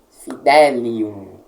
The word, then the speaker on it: fidelium: Por exemplo, fidelium, o L nós puxamos ele um pouquinho.